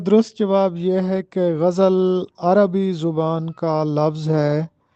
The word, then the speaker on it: غزل: درست تلفظ بتانا ہے۔ تو اس لفظ کا درست تلفظ ہے غزل۔ بہت سے لوگ اس کو غزل پڑھتے ہیں، جبکہ درست تلفظ ہے غزل۔ غائن پر زبر اور زے پر زبر ہے، غزل اس کو پڑھیں گے۔ سوال نمبر 2 ہے،